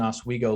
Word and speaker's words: Oswego: you have lake oswego and if you're coming from new york i think there's an oswego lake um in new york um so you it's it's uh pronounced the same way um i i have